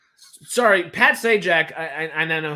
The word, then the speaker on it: Sajak: Like, sorry, Pat Sajak. I now know how to say it. I was really confused with Carrie there. Thank you for saying Pat Sajak.